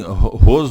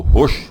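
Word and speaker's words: ראש: Então, e na verdade, assim, Ros ou Rosh, né? Porque o Shin pode ser com som de S ou SH.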